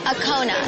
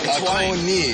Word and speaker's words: Akoni: Akona. Akoni. Yeah, Akoni.